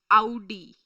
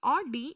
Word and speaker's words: Audi: So their Audi. It is not Audi, it is Audi. Why we pronounce it as Audi? Because it's a German car brand, so we are supposed to pronounce it in their way.